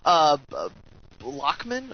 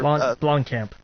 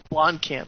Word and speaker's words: Blomkamp: I saw that, I guess, Bloody Disgusting reported that Alien, the Alien 5, I've always mispronounced this guy's last name, Blockman? Or Blomkamp. Blomkamp, yeah.